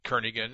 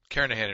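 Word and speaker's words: Kernighan: will be using the kernigan and Richie or Kahan I should say the g is silent carahan and Richie C programming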